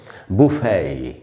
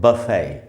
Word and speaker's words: buffet: Next word जो है दोस्तों वो है BUFFET, और इसको ब्रिटिश इंग्लिश में पढ़ते हैं बुफे, बुफे। अमेरिकन इंग्लिश में इसको बोलते हैं बफे, बट ब्रिटिश इंग्लिश में बोलेंगे बुफे।